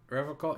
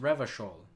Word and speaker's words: Revachol: Revocol is pronounced Revachol.